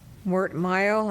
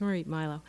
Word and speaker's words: Marit Milo: My name is Marit Milo. It's quite all right. I'm very used to it. It's spelled differently. Marit. Marit. Thank you. It's Marit Milo.